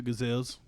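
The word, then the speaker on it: Cazal: way these are gazelles it's a g silent it's a c it's c-a gazelles but everyone pronounces it gazelle I don't know why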